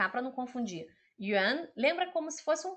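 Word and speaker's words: 园: E aqui embaixo, esse ideograma aqui, que é outra coisa, que é parque, é yuan. Yuan é segundo tom, tá? O pinyin é o mesmo, é Y-U-A-N.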